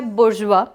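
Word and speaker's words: bourgeois: Discuss किया हुआ है, जिसका प्रोनाउंसिएशन होता है बुर्जुआ.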